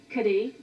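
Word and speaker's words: Cádiz: we actually what's the name of the city kadhi kadhi hey they pronounce it oh is that the C ADIZ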